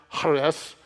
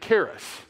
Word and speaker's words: Charis: Grace it's actually pronounced harness but because it sounds like you've just coughed or had something caught in your throat we texanized it and made it Karis so we are Grace